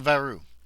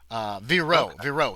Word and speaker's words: Vireaux: Yeah, so Jean Varu. Viro. Sorry, Viro, not Varu.